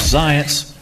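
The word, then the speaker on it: Zients: of the cobit plan Jeff science rhymes with science even though he's just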